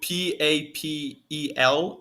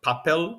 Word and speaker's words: papel: we do we do p-a-p-e-l and then whenever a word ends like with a consonant we have to pronounce that syllable so that's why it's not like papel but papel yeah okay okay that's